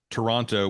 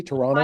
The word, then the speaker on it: Toronto: with three syllables and she was saying No it's it's it's just Toronto it's like T Tonto with an R Toronto it's not two syllables no second no SEC no second T right you don't pronounce